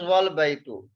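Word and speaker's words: وَالْبَيْتُ: Okay, so you see here, the second is wal-baytu. Wal-baytu, there is waw and there is al-baytu. In this case, we will not pronounce this alif.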